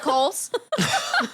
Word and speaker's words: Kohl's: But it's spelled like COALS.